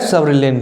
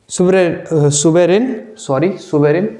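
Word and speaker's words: suberin: It also have सब्रिलिन। यानी cortex और cork जहाँ पर प्रेजेंट है वहाँ एक और चीज़ होती है जिसको कहते हैं सुबरलिन। सुबेरिन, प्रोनाउंसिएशन गलत कर दिया मैंने, सुबेरिन, जो किस में हेल्प करती है?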